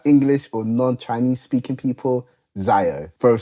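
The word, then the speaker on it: 箫: We've got a pipa, a halusi or halusai, and we have a zayo or a xiao, which is how it's said in Chinese.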